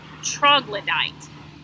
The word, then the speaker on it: troglodyte: The word is pronounced troglodyte.